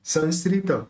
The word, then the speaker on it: संस्कृतो: इसी तरह से यहाँ संस्कृत, इसके भी आगे स ही निकल रहा है, तो इसका भी अपन न ही प्रोनाउंस करेंगे।